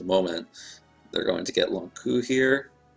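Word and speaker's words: Lon'qu: And in just a moment, they're going to get Long Q here. I always pronounced it Long Q. I always pronounce it Long Ku as well.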